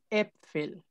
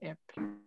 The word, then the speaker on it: Äpfel: Acuérdense que la A con diéresis, con umlaut, se pronuncia como E. Äpfel.